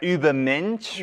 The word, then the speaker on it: Übermensch: Walter Lee Walter let's start off with the Uber mench G Dragon okay so make sure I pronounce it right Uber MCH right good job yes so yes it's the